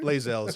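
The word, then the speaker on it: Lae'zel: Lazel is her name, but Bazel because she's Okay, Bae.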